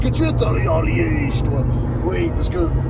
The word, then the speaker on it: Liège: tu es aller en liège toi oui parce que Liège ça se prononce Liège comme ça un trs profond euh parce que li